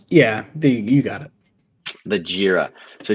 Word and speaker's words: Jira: That pronunciation? Yeah, you got it. The Jira. So Jira is a system that helps manage team projects